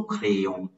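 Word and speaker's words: crayons: the only difference is the S is not pronounced in French like in English there's a clear difference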